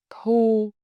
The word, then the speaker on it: thu: Thu, thư, thu, thư. Bút, bức, bút, bức. Ngủ, ngữ, ngủ, ngữ. Notice how your lip change each time. Rounded for u, flat for ư.